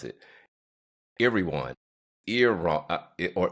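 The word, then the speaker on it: Erewhon: I'm going try to pronounce it. Irwan ear or Iwan.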